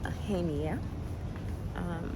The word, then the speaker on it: Aegina: Okay, so we made it to our next island, which is Aegina. The G is silent, but basically I've been roaming the streets, looking at shops and stuff.